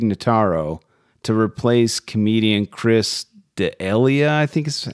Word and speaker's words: D'Elia: So they brought in comedian Tig Notaro to replace comedian Chris D'Elia, I think is how his name's pronounced.